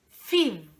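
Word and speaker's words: ffydd: Fid.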